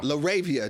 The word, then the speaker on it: LaRavia: Oh man, I gotta speak shout out to Jake how you pronounce his name? LaRavia.